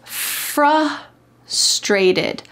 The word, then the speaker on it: frustrated: The word is frustrated. Frustrated. The emphasis is on the beginning of this word.